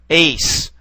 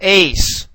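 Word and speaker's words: εἰς: here we have what looks like an apostrophe Ace all right whereas the second one here we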